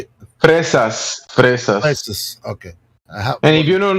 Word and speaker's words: fresa: Fresa. With the roll in the R. Fresa.